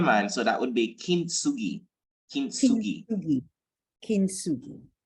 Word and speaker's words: kintsugi: Not sure I can pronounce it well, but I'm seeing it. Yeah, man. So that would be kintsugi.